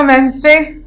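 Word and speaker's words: Wednesday: Fourth word है आपका वेंसडे. अब इसमें आप ऑब्वियसली बिल्कुल क्लियर है कि डी आपका साइलेंट है.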